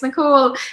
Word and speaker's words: Nicole: big one for me i always get called nicholas i'm like no it's nicole but i say it really politely i'm just like oh my name is actually nicole but like nicholas fine